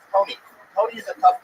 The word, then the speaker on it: Toni: It's Tony. Tony is a tough name for you to pronounce.